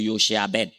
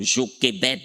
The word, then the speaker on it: Jochebed: Bon, si on veut bien prononcer, c'est Yochebed. Yochebed. Mais en français, on dit Jochebed. On coupe court, Jochebed.